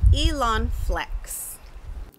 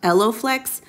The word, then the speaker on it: EloFlex: stitch and not pop this product is called elon flex it's actually pronounced elloflex but i'm gonna allow myself to be imperfect